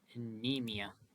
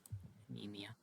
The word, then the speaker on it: anemia: a bit and Skittle has mutated and developed anemia that's how you pronounce that anemia um our severity went up a little bit